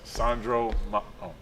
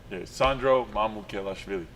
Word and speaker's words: Sandro: just say your name so everybody at home pronounces it correctly yes it's Sandro Sandro okay yeah it's not that hard not even